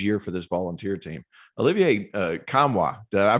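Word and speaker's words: Olivier Nkamhoua: And I think the guy who could step up and have a huge year for this Volunteer team, Olivier Kamwa, did I pronounce that right?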